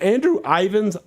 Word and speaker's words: Andrew Ivins: butcher the guy's name is it Andrew Ivins yeah that's correct Ivins I got it that's correct yeah Andrew Ivins waited on